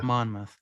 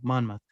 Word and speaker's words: Monmouth: Monmouth. I tried to find the pronunciation. I couldn't find it. Yeah, there you go. Monmouth.